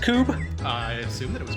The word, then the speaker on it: Kubb: Do you know that it's pronounced Kubb?